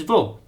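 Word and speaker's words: ո: The next letter is vo, which gives an o sound if in the middle of a word. But, if in the beginning of a word, it's a vo sound.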